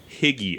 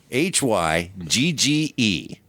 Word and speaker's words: hygge: There's just a great variety of sound throughout it that is just, it adds to that higgy effect. Hygge. It's pronounced.